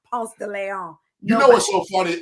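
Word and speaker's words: Ponce de León: I don't know Ponce de Leon. I know Ponce de Leon. It's Ponce de Leon. Ponce de Leon. If you say it wrong, they know you ain't from there.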